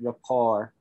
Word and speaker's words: rapport: we go yeah so rapport is like a french word so that's how we pronounce it rapport and rapport is the